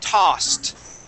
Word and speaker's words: tossed: first off, this word is tossed. Tossed. Tossed. Tossed. Good. Yeah, and it has that T ending.